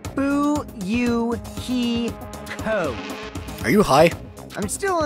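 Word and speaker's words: Fuyuhiko: name is my first name is pronounced ooh you he code are you hi I'm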